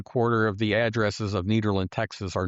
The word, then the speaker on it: Nederland: And by the way, it's Netherland. It looks like Netherland, but we get all sorts of pronunciations. But if you want to sound like you're from here, Netherland or if you've been here a long time, needland.